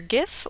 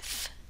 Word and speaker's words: GIF: There's your .gif (pronounced with a hard g) or your .gif (pronounced with a soft g).